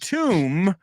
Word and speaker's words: tomb: so far so good and tomb rhymes with broom and Gloom said rhymes with bed